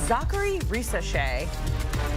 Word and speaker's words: Zaccharie Risacher: Zaccharie Risacher. Mike O'Donnell's giving me a thumbs up. I nailed that pronunciation there.